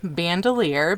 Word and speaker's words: Bandelier: an ironic story that it is pronounced Bandelier because they were afraid that Anglo-Americans would not be able to pronounce Bandelier.